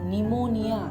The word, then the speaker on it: pneumonia: किपरि यस सर ऑफ निमोनिया। देख निमोनिया रे पिला माने स्पेलिंग देख भूलिबनी PNEUMONIA निमोनिया।